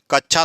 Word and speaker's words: कक्षा: ना छतरी वाला अच्छा ये के और मुर्धन 100 से मिलकर बनता है विकल्प सी जो